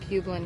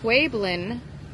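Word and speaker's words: Pueblan: The pueblin, it's pronounced like it has a W in it.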